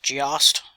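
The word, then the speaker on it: GEOST: million acquisition of uh I think it's pronounced Gost Ge O S a company that specializes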